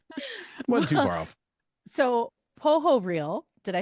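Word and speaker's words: Pohorylle: it up a long time ago how to pronounce it correctly but can you say it for us yeah poo real poo real poo real okay I was too far off see I'm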